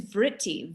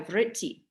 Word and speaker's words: vritti: yoga's chitta and then the next word is vritti v-r-t-t-i vritti and it's kind of like it sounds it